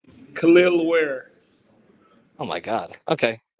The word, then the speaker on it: Kel'el: We need a first-name pronunciation. Kel'el Ware.